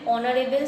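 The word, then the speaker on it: honourable: head master is dash ऑनरेबल मैन ऑनरेबल silent as तो एन होने next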